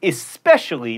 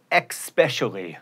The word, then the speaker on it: especially: it's supposedly not supposably and especially not expecially comfortable has four syllables